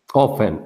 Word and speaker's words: often: I often go Often, often. You don't say the T.